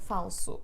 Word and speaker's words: falso: aí e vamos para alguns exemplos as palavras dissílabas carta Oi gato Oi primo é falso bom então carta última penúltima o acento recai